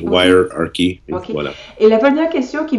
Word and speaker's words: Wirearchy: vidment content de découvrir votre livre y key est-ce que je le prononce correctement oui wire ary et la prière question